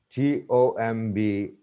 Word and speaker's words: tomb: tan, sponge, not sponge, tomb, but it's comb, comb, T-O-M-B, tomb, B is not pronounced, C-O-M-B, comb, B isn't